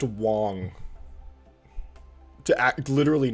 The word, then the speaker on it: Wang: It's kind of wild to me that they put Taraxacum on this banner, because, or it's pronounced Wong, to act literally not.